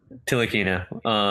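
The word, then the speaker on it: Ntilikina: I believe OKC lukina the N is silent till akina yeah he looks actually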